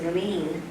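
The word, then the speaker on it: Lien: And I also want to say a thank you to Sydney and to Tanya and to Lean. And Lean's name is spelled L-I-E-N, and her sister's name is Lang.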